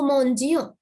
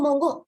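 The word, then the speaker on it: mangeons: So we pronounce it as no mongion. If you do not have this E, then it's like no mongo.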